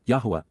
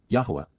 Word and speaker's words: Yahowah: in Yahowah, Yahowah, the proper pronunciation of the name of Eloah, God as